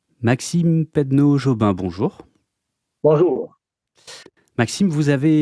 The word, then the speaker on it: Pedneaud-Jobin: la la chose la plus difficile pour moi, prononcer votre nom. Pedono Pedno Jobin. Oui. OK, je vais y arriver, je vous promets rien mais normalement j'y arrive. Maxime Pedno Jobin, bonjour.